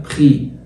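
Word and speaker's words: prix: بعد كده ان بري، بري، بري لان الاي بتنزل اي تبقى بخي، ان بخي والاكس ما بتتنطقش.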